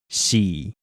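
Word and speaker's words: 四: Next, the number 4 is pronounced xi.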